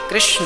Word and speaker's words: कृष्ण: वेद मंत्र है ये शुद्ध उच्चारण इसका क्या है हरे राम हरे राम राम राम हरे हरे हरे कृष्ण हरे कृष्ण कृष्ण कृष्ण हरे हरे यह वेद मंत्र बोल